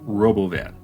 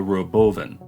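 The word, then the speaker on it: Robovan: do you know why musk is butchering the pronunciation of Robo van calling it The Roven the Roven the Roven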